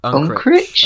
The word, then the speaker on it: Unkrich: Unkrich?